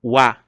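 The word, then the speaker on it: は: Então nesse caso a gente vai fazer a leitura dela como wa.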